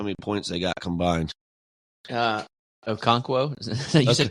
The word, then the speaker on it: Okonkwo: Okonkwo? You said Okinawa. Couldn't let that slide. Okonkwo had 0.